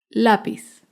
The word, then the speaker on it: lápiz: Lápiz es una palabra grave porque se acentúa en la penúltima sílaba. Lápiz.